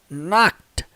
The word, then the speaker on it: knocked: Outra coisa muito interessante é que essa palavra aqui, ó, knocked, embora tenha o ED aqui no final, a pronúncia dela, de acordo com a transcrição fonética, dá uma olhada aqui, ó. Knocked, knocked, knocked. Tem um som do T, gente, no final, tá?